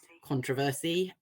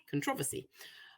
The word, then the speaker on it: controversy: But in certain cases like this, there are two very common different pronunciations. So we have controversy and controversy.